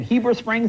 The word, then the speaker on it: Heber Springs: Now tell us, is it Heber Springs? Am I saying it right? Yes, sir. Okay, no, whereabouts is that? Everybody else says Heber Springs. Heber Springs, okay.